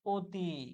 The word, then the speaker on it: অতি: কিন্তু অতি কিসের মতো উচ্চারণ হচ্ছে? ও এর মতো।